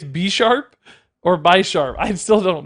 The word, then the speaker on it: Bisharp: B-sharp. B-sharp is how you say it.